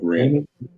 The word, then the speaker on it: Ren: Oh, that's Ren. Oh, Ren. Yeah, Ren. Yeah, right. My bad. Ren is a name, right? Yeah, not Wen. Yeah, Ren.